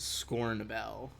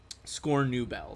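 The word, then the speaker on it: Scornubel: believe you're heading towards score Nobel score new bell sorry I mispronounced the middle syllable there uh it's like a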